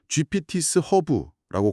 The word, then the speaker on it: GPTs 허브: 네이버나 구글에서 GPTs 허브라고 검색하시면 됩니다.